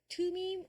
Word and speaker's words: Thummim: 투밈, or thummim 이렇게 발음하고요.